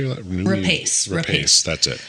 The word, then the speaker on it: Rapace: Rapace.